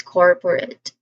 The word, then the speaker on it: corporate: Second syllable, por, corpo, it is pronounced with a schwa sound, po, po. So it's quick, it's unstressed. And then the third syllable, rate, it is pronounced with a schwa sound still, followed by the letter R and T sounds.